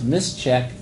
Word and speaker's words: misschk: A sociologist named Scott Long has written a user-written command called misschk, which I'll pronounce mischeck.